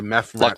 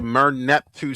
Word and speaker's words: Merneptah: setting of Moses and the Exodus tradition, the Mephnat stele.